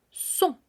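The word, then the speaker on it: sont: s en este caso la conjugación será son s o n t en este caso no tenemos por qué hacer eh que vibre esta sonará como en español prácticamente y son el son estaremos hablando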